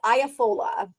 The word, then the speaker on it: Iafola: My last name is Iafola. That is the correct way to pronounce it.